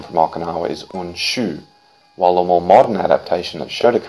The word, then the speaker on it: Unshu: its propagation from aawa but firstly the original pronunciation from aawa is unshu while the more modern adaptation that shodokan does